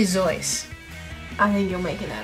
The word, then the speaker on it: Seuss: the dunce Deuces and you shouldn't Rejoice if you're calling him Seuss he pronounces it soy or zoy no it's SE so it's really zoy I think you're making